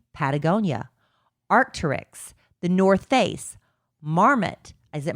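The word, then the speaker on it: Marmot: favorite brands, including Patagonia, Arcturix, the North Face, Marmmet. Is it Marmmet or Marmo?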